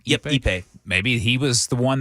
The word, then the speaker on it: Ippei: Yep, Ippei.